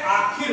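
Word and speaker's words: आषिर: और लेकिन एक आखिर, ये आशिर लिखा है, मूर्धन्य सा है, लेकिन यहाँ इसका उच्चारण ख के रूप में होता है।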